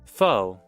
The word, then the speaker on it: faux: Is it faux? As in like fake? Is that how you pronounce it? Am I pronouncing it correctly? I think I am. Let's see. Foe. Oh yeah, it is faux.